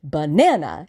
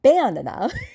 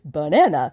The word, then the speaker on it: banana: But a three-cllable English word like banana, the second syllable is stressed banana. It's not banana, it's banana.